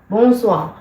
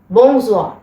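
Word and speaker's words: bonsoir: similarly ബോസ്വാ ബോസ്വാ ബോസ്വാ ഇതിന്റെ ഇത് അങ്ങനെയാണ് ഇതിന്റെ പ്രൊനൗൺസിയേഷൻ ബോസ് ബോസ്വാ അപ്പ ഇതിന്റെ മീനിങ് എന്താണ്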